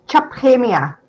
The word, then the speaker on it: Chaphemia: It's Chaphemia. That's how you say it.